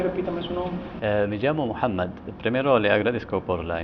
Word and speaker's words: Muhammad: En esta ocasión tenemos como invitado especial a Muhammad, así que se pronuncia. Muhammad.